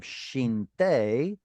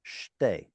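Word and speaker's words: שתי: here because nun at the end of a syllable will assimilate. So instead of shinte, it's instead shtei, 2 of tziporim.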